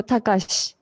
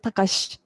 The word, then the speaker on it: Takashi: so confused has i but i is not strongly pronounced so takashi so if you pronounce i sound strongly kakashi or satoshi so maybe it's good to stick with takashi like is h sound